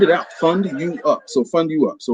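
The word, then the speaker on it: FundUUp: this out at you the name of my company is fund you up f-u-n-d-u-u-p fund you up so i get fund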